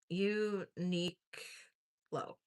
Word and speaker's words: Uniqlo: It's um Unique Low. That's how you spell it. Unilo.